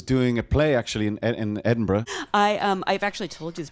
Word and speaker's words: Edinburgh: If you're having any confusion about the pronunciation of Edinburgh, here it is. I was doing a play actually in Edinburgh.